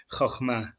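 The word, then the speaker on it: חכמה: in my head it's Hokmah. So it's so good to hear you with Chokhmah. not my Chicago accent saying it. Can you pronounce it for us again? Chokhmah.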